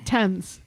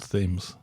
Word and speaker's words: Thames: or not and also by saying tense instead of themes yeah it's not called themes right it's spelt thames and rivers in america